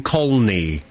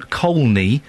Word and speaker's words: Colney: used to live on colney Hatch Lane there's an L in it you pronounce the L col hatch Lane right